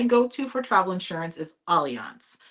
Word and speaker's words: Allianz: My go-to for travel insurance is Allianz. It's spelled like Alliance, but it's Allianz, Allianz.